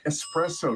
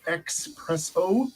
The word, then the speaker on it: espresso: too I'm from Seattle espresso not expresso that's an honest mistake